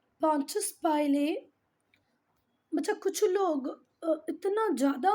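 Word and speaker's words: Pontius Pilate: हो सकता है आपकी टीचर उसका पॉन्टियस पिलाटे पढ़े, पर ये है पॉन्टियस पाइले, ठीक है, पॉन्टियस पाइले।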